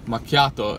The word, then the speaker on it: macchiato: Like macchiato in Italian means like it's stained.